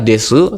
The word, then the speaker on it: です: Nah, berikutnya di sini kita akan membahas penggunaan kata desu tadi ya, penutupnya dan Jaariasen. Jadi pada bab awal ini ya ada dua penutup kalimat yaitu ada kata desu des bacanya dan ja arimasen.